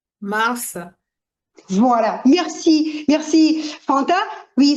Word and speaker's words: mars: Mars. Voilà. Merci. Merci Fanta. Oui, c'est Mars. C'est pas Mars. Dans ce cas-là, ce S il il se prononce.